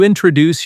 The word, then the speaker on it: introduce: When you meet someone new, you introduce yourself. Example sentence. Let me introduce myself. Repeat after me. Introduce. Pronunciation tip. The stress is on the second part.